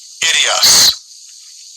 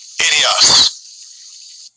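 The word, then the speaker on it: ἴδιος: Idios. Idios. Yeah, and that would be the pronunciation in the Greek for this word own.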